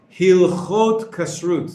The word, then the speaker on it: Hilchot: put the two nouns together same thing with hilhot is the correct pronunciation we have and you you put them